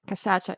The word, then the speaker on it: cachaça: Is that how you say it, Inka? Yeah, cachaça, yeah.